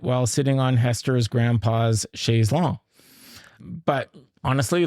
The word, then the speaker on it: Chaise Longue: But actually, it is pronounced Shaes Long in England, and it's actually from French. Sha Long.